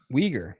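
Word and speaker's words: Uyghur: Weaguer. Okay. Weaguer. Yep. That's how you pronounce it, but it's spelled really weird.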